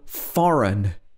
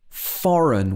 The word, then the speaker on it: foreign: next one is when you have an n after a g so in this case the g is generally silent for example foreign foreign we don't say foreign